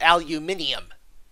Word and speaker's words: aluminium: Continental English adds a syllable and makes it into aluminium.